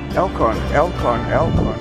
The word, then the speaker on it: Elkon: Elkon. How do you spell it?